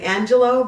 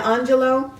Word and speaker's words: Angelou: And there's a poem in here by Maya Angelou, or some people like to say Angelou, but Maya Angelou.